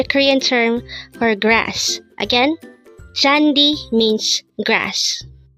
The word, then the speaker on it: 잔디: like grass the koreen translation of this is jandi Cham again it's chandi Cham jandi is